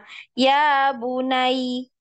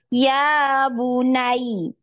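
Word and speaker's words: يَا بُنَيَّ: kaidah nabr di dalamnya jadi kita bacanya Enggak cuma ya bunai ya bunai datar seperti itu tapi harus di ditinggikan suaranya ketika masuk di ya yang disukunkan ya karena di situ ada tasdid ya ya bunai ya bunai ya kan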